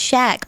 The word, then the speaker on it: Shaq: Pronounced shack, but okay.